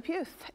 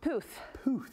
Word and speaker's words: Puth: Okay, coming up, we're talking about Charlie Puth, and he's got a very new television show. How do you say his last name? Puth.